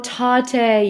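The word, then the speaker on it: Tatte: Oh, Tate, yeah.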